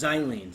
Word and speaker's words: xylene: Oh, it's xylene. Sorry, not toluene. Xylene, not toluene. Well, Zai, it's all rhymes with dye.